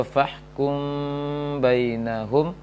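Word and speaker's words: فَاحْكُمْ بَيْنَهُمْ: fahkum bainahum, maka bacanya fahkum bainahum, fahkum bainahum. Dia mim, baca mim, tapi ada furjah, celah kecil saja, renggang kecil antara mim, antara dua bibir.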